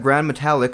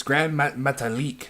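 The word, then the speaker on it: Gran Metalik: from Mexico we got Grand metallic versus Alejandro SE or size it's it's Grand metalik it's Grand metalik I'm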